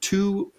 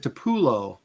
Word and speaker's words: Tupelo: Pronounced Tupolo. Tupolo. That's what I said. Tupelo Tunis. Didn't I say that? Tupolo? Yes. But that's okay. So apparently I said Tupulo, but I meant Tupolo.